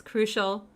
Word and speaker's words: crucial: Sometimes I know some students have a hard time pronouncing it because it doesn't look how it's pronounced, but crucial sounds like an SH, crucial, okay?